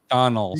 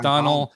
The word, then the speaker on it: Donal: also the pronunciation of donald so it's donal see i can't i couldn't pronounce this first name sorry look at that so it's uh thank you very much mike it's a donal thank you so much